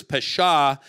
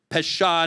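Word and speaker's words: פשע: The word in Hebrew is pesha, and it says whose transgression is forgiven. The Hebrew word is nasa. It rhymes in Hebrew. It doesn't work in English, but pesha nasa. You hear it?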